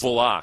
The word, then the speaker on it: Bullock: All of us had to be corrected because we were pronouncing it Kalen Bullock. And it's no, he likes it pronounced Bullock. Pronounced Bullock.